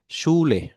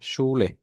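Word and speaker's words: Schule: হয়, এটা তাহলে আমরা SCH, SCH যেটা হয় সেটা স এর মতো উচ্চারণ হবে, SCH, স। অর্থাৎ আমি যদি এটা কোনো এক্সাম্পল দেই, এক্সাম্পল যদি দেই সেই ক্ষেত্রে আমরা দেখতে পারবো যে সি, শুলে, হ্যাঁ, শুলে, এটার উচ্চারণ হবে শুলে।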